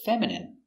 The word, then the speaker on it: feminine: The dog looks feminine, like a girl. Pronunciation. Feminine. F. E F M fem I feminine M fe feminine I feminine feminine m feminine feminine feminine stress on the first syllable feminine feminine your dog